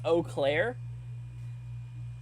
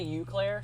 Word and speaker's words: Eau Claire: threw something at me it's pronounced Eau Claire oh okay what did I say oh did I say you Claire sorry not good at